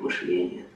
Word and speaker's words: мышление: опыт такого рода, что слово «мышление» на самом деле нужно произносить с ударением на первом слоге, в профессиональной среде так